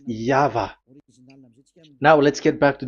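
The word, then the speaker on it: YHVH: Y H V H. So it is YAHVAH.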